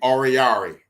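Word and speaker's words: Oruwariye: But Amani Oriari, that's his name, Oriari. Amani Oriari played some solid number 2 cornerback tonight.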